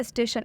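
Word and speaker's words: station: यहाँ पर आई से पहले टी है, यहाँ पर ये जो आई है उसके पहले टी है, इसलिए आई का उच्चारण अ हुआ है, इसलिए जो आई है इसका उच्चारण हम अ से कर रहे हैं।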